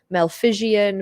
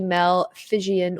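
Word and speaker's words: Malpighian: an unusual name and some people struggle to pronounce it you can call it malfizian malpigian but it is called the mel fijian or phigian body it is also known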